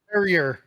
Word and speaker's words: Perrier: these aren't even G to pronounce it the right way the perer what is this perier Perrier the French I was